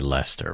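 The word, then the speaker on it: Leicester: texted you something so how do you think that's pronounced in the UK it' be Lester right okay yeah and if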